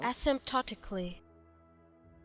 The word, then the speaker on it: asymptotically: Oh, I had to pretend the P didn't exist. It was a silent P asymptotically.